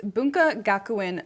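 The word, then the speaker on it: 文化学園: Let me pronounce it correctly. It's Bunka Gakuen Library's Digital Archives of Rare Materials.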